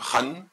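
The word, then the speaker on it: 恨: Alors, maintenant, si vous regardez un instant le caractère chinois sur la droite, le caractère chinois se prononce Han, H-A-N, c'est le caractère Han.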